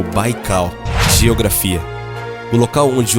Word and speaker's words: Baikal: usar o nome de baigao pronunciado como o baikal geografia do local onde